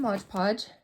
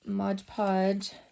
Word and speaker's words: Mod Podge: going to do is Modge Podge or Mod Podge I guess is how you pronounce it um pink or